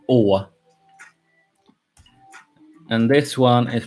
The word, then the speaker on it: Å: It's pronounced Å.